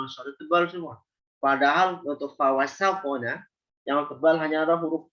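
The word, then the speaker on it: فَوَسَطْنَ: Fa, waw, sin, nun tipis. Ya, jadi dijaga ketipisan. Jangan bacanya fawasokono, Fawasopona. Sin, kalau kita nggak jaga ketipisannya, bisa mengarah kepada huruf sod.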